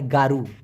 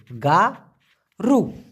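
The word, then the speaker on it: garu: ওইটাকে আবার বলা হয় গারু জি এ আর ইউ উচ্চারণটা হবে গা রু গরু না কিন্তু গারু অরাংতুয়া মানে হচ্ছে বৃদ্ধ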